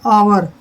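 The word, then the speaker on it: hour: ऑनर, H silent रहेगा। ऑनर होता है सम्मान। जैसे ये है आवर।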